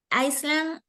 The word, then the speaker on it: island: Phuket is an island in Thailand. Correct, okay? So Phuket, the pronunciation of this is island, no S, right?